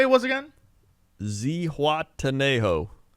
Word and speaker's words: Zihuatanejo: kind of want to hear you struggle with pronunciation what was it what did you say it was again zihuatanejo say wataneo is is is that the place